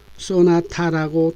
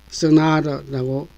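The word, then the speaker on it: sonata: 이 단어의 발음을 한국에서는 소나타라고 또박또박 발음을 합니다. 영어로는 equal stress라고 합니다. 그러나 영어의 발음은 둘째 음절에 액센트가 있어 높고 강하게 발음하고 첫째와 셋째에 액센트 없는 음절은 낮고 약하게 발음을 합니다. 바로 이 첫 번째와 세 번째 음절의 발음이 우물우물하게 들립니다. 그래서 발음이 쓰나라라고 발음이 됩니다.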